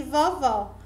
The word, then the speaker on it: vovó: Um exemplo clássico para definir a diferença de pronúncia são as palavras vovô e vovó. Observe que a palavra vovô ela é mais fechada e a palavra vovó, o vó é aberto.